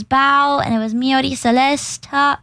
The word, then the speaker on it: Celesta: and it was Mi Celesta Celesta Celesta m not Celestia I someone I there